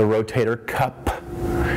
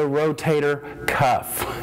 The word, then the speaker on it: rotator cuff: it is not the rotator cup it is not the rotary cup it is not the rotary cuff it is the rotator cuff it is a cuff